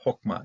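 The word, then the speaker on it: חכמה: cuando es una Silva cerada no accentua lo pronunciamos o entonces lo vemos también en forma verbal aquí si es nombre sustantivo Entonces hokma es la sabiduría es una forma femenina voy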